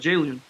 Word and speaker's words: Jalen: Jalen Carter, I think is how you say his name. Not Julian, but Jalen from Westchester, 16 of 18.